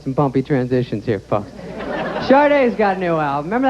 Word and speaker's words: Sade: So, Sade's got a new album. Buckle up, we got some bumpy transitions here, folks. Sade's got a new album.